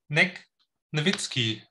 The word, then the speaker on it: Negnevitsky: firmware design, which will be given by Vlad Negnevitsky. Negnevitsky, that's the right pronunciation, right, Vlad?